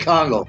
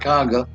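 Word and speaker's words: Kangal: No, I said Congo, not Congo.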